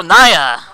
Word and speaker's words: Nyah: know ye night Oh nyah yes Oh rhymes with liar liar nyah gotcha so nyah